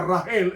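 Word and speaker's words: רחל: hijas se enamoró de raquel que se pronuncia rangel en el hebreo y luego después el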